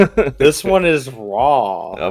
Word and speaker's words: Ra: Some sources I said I saw could have his name as Ry instead. Like I said, the vows are just guessing. So, we don't know for sure.